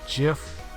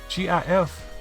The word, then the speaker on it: GIF: you said I think the creator of the program said pronunciation is jiff but it's aji gif gif if you want a jiff why do you abuse a J it's just weird no